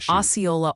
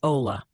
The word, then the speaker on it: Ola: Multiple people are saying Oyola, Arkansas is pronounced Oola.